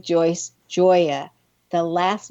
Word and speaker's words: Gioia: And I want to spell your last name for everyone because it's pronounced Joya, but it's spelled G I O I A. So everyone, when I'm saying Joyce, Joya, the last name is spelled G I O I A.